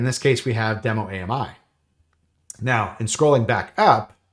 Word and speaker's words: AMI: I am firmly in the Ami has three syllables Camp um and then